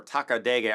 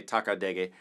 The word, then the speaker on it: takadimi: But takadimi is, or takadege, I like to say takadege, those are also just rhythmic markers.